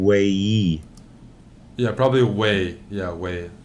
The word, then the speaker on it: Wei: yeah probably we yeah whey like whey protein well I'm almost told